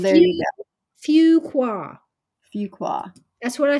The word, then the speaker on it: Fuqua: nope uh laby Angel says I would have pronounced it fuke way but duk's fua School of Business says it's pronounced fua fua fuka F there Fuqua Fuqua that's what I said isn't it I